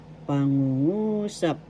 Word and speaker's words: pangungusap: sentence inalog is pangusap first syllable pa second syllable ng third syllable ng fourth syllable sa the accent is in the third syllable so you will say this pronounce this correctly pangungusap pangungusap that sentence in English